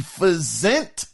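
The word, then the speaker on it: Physint: projects now first is fent now I ain't never even heard of this game it's called P it's spelled my bad p h y s i n t fent uh which was announced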